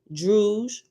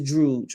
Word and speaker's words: Druj: Figure 4.1a and 4.1b, signs of A, Druj, rhymes with stooge, right? So anytime you see Druj, Druj in Oahspe is Druj, right?